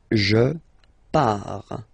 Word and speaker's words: je pars: Okay, so the first form is je pars, so final S not pronounced, je pars.